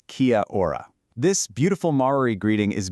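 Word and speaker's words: Kia ora: Now, for your first real interaction, Kia or you say it like Kia or this beautiful Mari greeting is basically your allpurpose hello.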